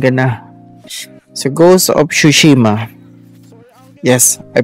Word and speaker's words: Tsushima: So, Ghost of Tsushima. Yes, I pronounce it right.